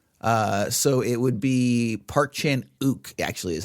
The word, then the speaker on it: Park Chan-wook: his his they're actually in English you don't pronounce the W in his name uh so it would be Park Chan o actually is how would